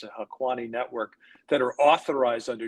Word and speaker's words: Haqqani: transactions involving the Taliban, or I think it's pronounced the Haqqani network, that are authorized under general licenses, the licenses 14 and 19, which our sanctions experts will obviously know.